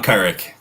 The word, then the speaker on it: Kuruc: John Kuruc.